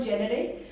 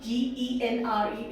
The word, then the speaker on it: genre: This is not genre. You will pronounce the pronunciation of G-E-N-R-E is genre. Okay.